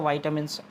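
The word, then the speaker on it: vitamins: Junk food is deficient फिर blank in वाइटामिन and minerals, है ना, इसको विटामिन्स बोलते हैं लेकिन सही प्रोनाउंसिएशन तो वाइटामिन्स होता है ना।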